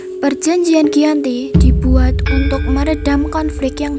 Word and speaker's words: Giyanti: Dalam pelafalan Belanda, ia sebagai Giyanti, dan secara tertulis ia terbaca Giyanti. Perjanjian Giyanti dibuat untuk meredam konflik yang berlarut-larut pasca perpindahan Keraton Kartasura ke Surakarta.